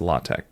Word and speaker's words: LaTeX: said the word at latex um those who are in the no will know that this is actually pronounced latch and this is code